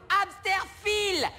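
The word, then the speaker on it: Hämsterviel: Ça se prononce Amsterfil.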